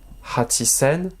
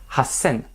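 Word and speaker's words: 八千: Hachisen, Hassen. Prononciation exceptionnelle.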